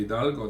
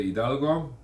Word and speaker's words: Hidalgo: the Treaty of Guadalupe Hidalgo age is silent in in Spanish write in Telugu and